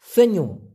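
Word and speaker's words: senyum: হয় সেনুম এস ই এন ওয়াই ইউ এম উচ্চারণটা হবে সেন ই উমু সেনুম হাসি মানে গোলা মুচকি হাসি কে বলা হয়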